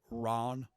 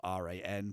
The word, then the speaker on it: Ran: we'll be talking about Ron the season finale um that's spelled r-a-n but it's not ran it's Ron um and um thank